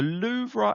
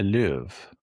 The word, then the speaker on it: Louvre: The Loura. Is that was that what how you say it? How do you say it then? The Louv. Mate, we're English. me ain't French. Yeah, but you stuck you stuck an A on the end.